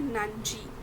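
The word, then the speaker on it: 何時: what time के लिए नांजी ऐसे हम प्रोनाउंस करते हैं नानी नहीं कहते ओके तो याद आया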